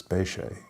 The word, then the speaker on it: Bechet: jazz musician and so when I hear his name pronounced and it spelled the same and I said ok no that's not quite the way I was taught how to pronounce it and they say you know Sidney Bechet and so my family always taught what we were taught from my our relatives spay Shay you know so they